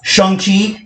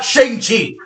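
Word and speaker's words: Shang-Chi: the ten rings and yes that's how you pronounce shang chi it's not shanxi americans america sorry for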